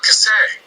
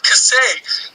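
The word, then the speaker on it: Kasay: John Cassay, the Panthers. Yeah, the Panthers just tied the whole I like how thing you gave him the French pronunciation.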